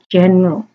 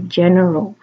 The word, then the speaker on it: general: me up on this I made a mistake with clapping out general I was calling it general as in general store it's actually general ok so I didn't